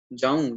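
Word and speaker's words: ਜਾਉ: ठीक है, जाऊं यहाँ पर भी बिंदी के साथ उच्चारणता की जाएगी उड़े अंकुर को, तीर्थ नावन जाऊं, तीर्थ नाम है, तीर्थ उत्ते नावन जानदा हाँ।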